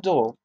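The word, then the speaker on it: Deuel: was the offering of Elias Tov son of dual and that that is spelled de UEL on the seventh day was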